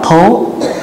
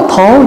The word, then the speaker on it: Thố: kiểu mình bây giờ không có đọc là mail hay là mail mà đọc là Thố thỏ là Thố cho nên giờ là